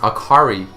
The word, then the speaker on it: Akali: Akali is pronounced Akari in Japanese, meaning light, bright, cheerful, which is actually a contrast to her actual title, which is the fist of shadow.